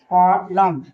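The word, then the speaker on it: column: सी ओ एल यू एम ई कॉलम कॉलम कॉलम नहीं कॉलम पढ़ेंगे। एन क्या है? साइलेंट है।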